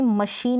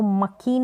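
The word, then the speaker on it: machine: Sound जो है तीसरा है श, जैसे कि मशीन में पढ़ते हैं, इसको मकीन नहीं पढ़ते, मशीन में CH को श पढ़ा जा रहा है, ये बीच में आ रहा है।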